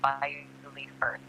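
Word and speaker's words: Beauly Firth: It's Bewley Firth, not Bowlig or Bowlig.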